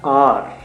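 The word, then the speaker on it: hour: उनके लिए बेसिकली हम हार बोलते हैं हावर बोलते हैं बच्चे उसको मिस प्रोनाउंस कर जाते हैं एओ यू आर होता है आर आर बोलते हैं बेसिकली तो अ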